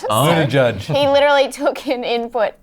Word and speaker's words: Buttigieg: It's Buttigieg.